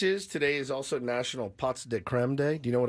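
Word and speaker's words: pots de crème: It's pronounced. Listen to this pot de creme. Is it really? Yes. It's not pot de creme. It's just pots.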